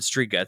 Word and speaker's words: Strzyga: It's spelled Strzyga. And at first I was like, how do I say this? And then I remembered that it was Polish, and I was like, oh, I bet that Z is silent, like in Skripek, like my fucking name.